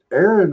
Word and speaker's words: Aaron: Y'all didn't know it, but Fesus's middle name was Aaron. And this Aaron rhymes with Karen.